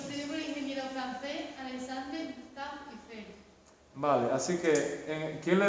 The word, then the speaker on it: Eiffel: Se llama así por el ingeniero que la montó, que se llamaba Gustave Eiffel, escrito E-I-F-F-E-L-L, pronunciado Eiffel.